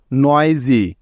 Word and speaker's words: noisy: যেমন দেখো, present, PRESENT, present, নয়েজি, NOISY, নয়েজি, easy, ESY, easy, pleasure, PLEASURE, pleasure.